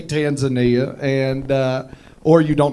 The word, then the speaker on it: Tanzania: That's how they Oh, y'all are like, "Oh, the fat man thinks it rhymes with lasagna." No, they say Tanzania. You say Tanzania.